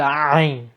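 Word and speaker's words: عين: Sometimes considered to be the hardest letters for English speakers to pronounce, because we have nothing like this in the Arabic, in the English language. So ayn, the best way I like to describe it is, if you've ever vomited, the feeling, the sound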